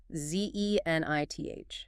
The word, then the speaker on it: zenith: Z-E-N-I-T-H. Zine. 2 syllables. Stress on the first.